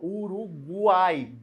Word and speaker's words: Uruguai: Porque eu pronuncio o U. O G e o U, ó. Uruguai, guai, né?